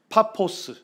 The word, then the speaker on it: 파포스: 파포스, 발음을 하면 파포스까지 왔는데 여기가 누가 거주하는 지역입니까?